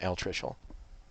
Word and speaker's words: altricial: It's altricial. So let me pronounce it for you one more time.